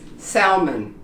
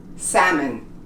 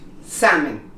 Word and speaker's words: salmon: Such a common word, and we think it was pronounced salmon. It's not. It's pronounced salmon in English. Salmon.